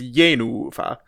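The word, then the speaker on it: Jenůfa: I think it's an accented first syllable and a long unaccented second syllable. So it's Yenufa.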